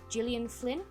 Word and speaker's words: Gillian Flynn: for this for me is gone girl by Gillian Flynn is how you say her name that's a